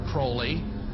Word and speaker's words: Crowley: about was Alistair Crawley he likes to have his name pronounced Crowley to rhyme with holy and uh the Satanist